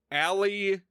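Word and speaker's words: A-li: group of 3 aliens whose names are Allie, Alan, and Aspen, but it's spelled out A hyphen capital letter of the rest of the name. So A hyphen Lan, A hyphen Lee, A hyphen Spen.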